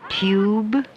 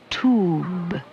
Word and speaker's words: tube: But U is different from some other vowels because there are two different ways to pronounce the long sound. With this word, you can say either tube or tube. Do you hear the difference?